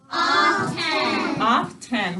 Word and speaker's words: often: often when we're talking how do we say that word to spell it off ten what's our first syllable ah and our second syllable ten all right what is our silent letter that we need to double underline good arts all right